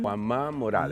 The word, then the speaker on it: Juan Ma Morales: I'm going to make him pronounce it Juan. Juan Ma Morales.